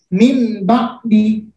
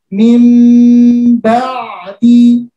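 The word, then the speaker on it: مِنْ بَعْدِ: Jadi membacanya tidak min ba'di, tapi menjadi suara huruf mim. Mim ba'di sami'un basir.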